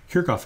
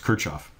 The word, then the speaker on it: Kirchhoff: I should also mention that in German, Kirchhoff is pronounced Kirchhoff. And you might hear it pronounced either way. The anglicized version of it is Kirchhoff.